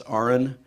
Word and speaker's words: Aron: breakfast I explained that my name is not Aaron it's oren and everybody gets it wrong and i explain its felt like Aaron but pronounced like registered nurse RN big hand for him